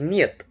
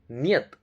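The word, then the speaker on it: нет: This is Niyat. Na, ye, ta. Niyat.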